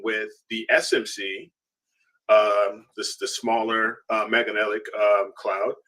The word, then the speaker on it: Magellanic: How do we pronounce it? Magellanic.